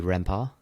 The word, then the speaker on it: Rempart: So if it's French, it would be Rempart.